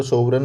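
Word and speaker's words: sovereign: सो वी ई आर ई आर ई आई जी एन इसको सोवरन बोलते हैं और आई टी वाई।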